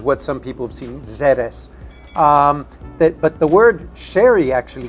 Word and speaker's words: Jerez: Well, the word Jerez, it could be said both with a J or an X, Okay. which is what some people have seen, Jerez.